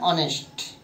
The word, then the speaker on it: honest: When H is silent. An honest. An honest. He is an honest student.